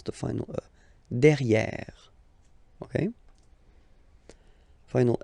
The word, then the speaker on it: derrière: Derrière. So if you look carefully, you've got here and then double R, so it will open the sound of this and you should pronounce it okay?